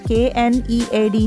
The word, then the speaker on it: knead: K-N-E-A-D, knead is mixing water and flour to make it into a dough.